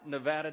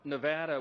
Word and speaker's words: Nevada: For my friends from Nevada, we are shaking. We're from Louisiana. Some people pronounce it Louisiana. So we always say Nevada, and now it's supposed to be Nevada.